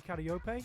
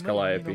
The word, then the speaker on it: Calliope: You've got a tsundere death god rapper in Mori Karaoke, who's actually insanely talented in music and releasing her own original songs. The Yeah, and you said it wrong, it's Calliope.